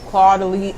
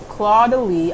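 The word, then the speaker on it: Caudalie: Is it le? I don't know. I think it's le. Codele. There you go.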